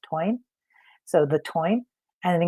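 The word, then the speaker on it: Táin: There's a book called the it looks like the tain t i n, but it's pronounced twine.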